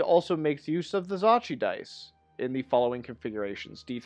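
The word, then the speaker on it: Zocchi: author refers to as Zachi dice. That is the proper pronunciation as I have come to understand it.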